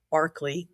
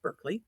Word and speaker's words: Berkeley: Anglo-Irish bishop called George Barkley, which in American English is pronounced Berkeley.